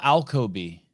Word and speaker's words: Alkoby: finally meet um alcoby that is correct did I say it right you did you're one